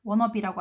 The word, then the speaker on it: want to be: want to be, wanna be라고 읽지 이거.